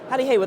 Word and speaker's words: Hali Hewa: Now, Hali Hewa, that's my first piece of Swahili. Did I pronounce it correctly? Yes, you did.